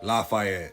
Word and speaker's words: Lafayette: Today, we're going to be talking about True Blood's favorite medium, Lafayette Reynolds, or how they pronounce in the show, Lafayette.